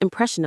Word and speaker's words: impression: Think of meeting someone new and having a strong first impression of them. The stress is on the second syllable. Press. Say it with me. Impression. It's like imp.